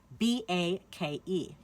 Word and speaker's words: bake: word bake for example b a k e what do we hear B A we do not hear that e at the end it is silent so we only hear